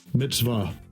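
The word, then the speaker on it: מצוה: How do they pronounce that Hebrew word? Strong's H 4687. Mitzvah.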